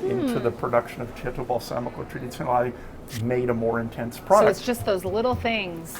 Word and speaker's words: balsamico: Balsamico, which Balsamico.